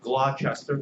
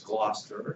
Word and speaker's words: Gloucester: have to become bilingual all right it's not Gloucester it's Gloucester um I can keep going down most frequently